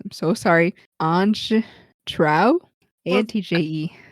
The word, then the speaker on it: Antje: A-N-T-J-E. The J is like a Y Is it sound. Y? And the E would make like a sound. So Antje? Antja? Antja? That's my guess.